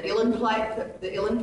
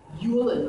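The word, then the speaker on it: uilleann: So I got the guy that played on Braveheart, played the theme song, to bring his Ilan Pipe, Yulin, or however you pronounce it, U-I-L-L-E-N, Pipe. Yulin Pipes.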